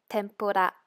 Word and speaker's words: tempura: Li Lu let look so tempura actually it's pronounced as tempura the last group we only have three again